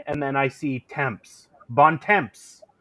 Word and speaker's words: bon temps: see a bon and then I see temps, bon temps. It's a good time. Now, can you pronounce how I was supposed to say it? Bon temps. Oh, bon temps.